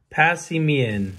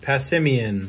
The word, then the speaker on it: Passimian: do you say that i want to know passy mean passimian okay that's how i'm gonna say it and